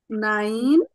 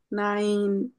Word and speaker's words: nein: আমার এরকম যদি থাকে এ ই এভাবে থাকলে আমরা সোজা কথায় আমরা ইংলিশের যে উচ্চারণটা নিই ডান সাইডে যে আছে তার উচ্চারণ নিব ঠিক আছে এজন্য তাহলে এটার উচ্চারণ হলো নাইন আর আমরা এটা রাইজে